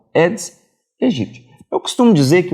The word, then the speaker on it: Aedes aegypti: Lembrando que do latim, sempre que você tem um AE, você não pronuncia o A, você não pronuncia apenas o E. Então, é o Aedes aegypti.